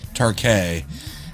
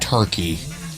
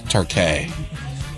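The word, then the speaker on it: Türkiye: Um my uh boss is from Turkey, Turkay, and uh he served in the military and everything. He says it's pronounced Turkay. It's not Turkey like gobble gobble. Like it's Turkay.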